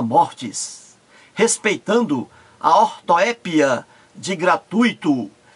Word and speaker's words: gratuito: O jornalista estava assistindo ao programa e ele ouviu a jornalista errar, pronunciar várias vezes fluido em vez de fluido, gratuito em vez de gratuito e gratuita em vez de gratuita.